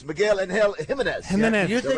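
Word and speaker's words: Jiménez: He's the one that Jimenez. But you got to say it like that. Yes. Because he is Spanish. Angel, and you got to go Jimenez.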